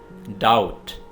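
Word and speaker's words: doubt: डाउट, डाउट में B silent है, बी को आपने प्रोनाउंस नहीं करना है।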